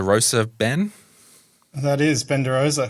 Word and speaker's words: De Rosa: Is that how I pronounce De Rosa, Ben? That is Ben De Rosa, correct.